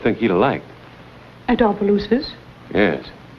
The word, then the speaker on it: Opelousas: Opelousas? Yes. I do not care for the country, you see. And my dear husband, he spoiled me. He longed for the tranquility of Opelousas, but I was very young, and tranquility had